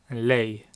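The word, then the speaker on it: lei: or she is Louie lay so Louie means he it's two syllables Louie and I lay one syllable lay that's she Louie and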